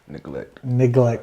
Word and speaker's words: NegleKt: I'm all, is it like neglect? I'm like, but I was like reading it and I was like, but it was kind of spelled weird.